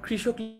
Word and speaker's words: কৃষক: এই যে দেখেছো কয়ের নিচে যে রিকারটা আছে এটাকে কিন্তু কৃষকটা আমরা, এটার আসল উচ্চারণ হচ্ছে ক রফলা রস্বই মূর্ধন্যস্ব ক, কৃষক।